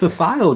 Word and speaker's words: ASYL: Well, it's Asile, guys. That's how you pronounce it.